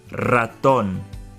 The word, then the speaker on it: ratón: Ratón. The word starts with an R, so it has the R sound.